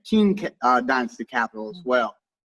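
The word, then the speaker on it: Qing: of china capital and q-i-n-g how do you pronounce it okay king danced the capital as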